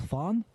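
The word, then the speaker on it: faen: You just say, "fan," which is not a very nice word.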